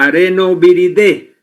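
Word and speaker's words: Arenaviridae: La familia es el areno viridae se escribe y se pronuncia arenoviridé.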